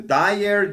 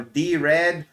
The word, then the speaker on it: Dired: directory editor of emacs it's called the dired or d red or the red depending on how you want to pronounce it but whatever you do